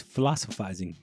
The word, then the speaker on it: Philosiphisting: Yeah, because that's how it is, philosophizing, the T silent.